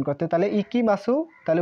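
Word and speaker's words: 行きます: তাহলে এই কাজির নাম ইকিমাসু এই কাজির নাম ইকিমাসু একা উচ্চারণ কিন্তু হবে কিমাসু সরি কি মাসু হ্যা কি মাসু আর এই উচ্চারণ হবে ইকি মাসু তাহলে আমরা উচ্চারণটা লিখে দেই ইকি মা বা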